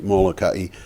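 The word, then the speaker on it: Molokai: take molai the first island in ha make mokai the first that's how they pronounce it yeah I love the Hawaiian language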